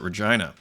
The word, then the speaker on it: Regina: a horse of course I come from Saskatchewan where we pronounce it Regina uh so anyways here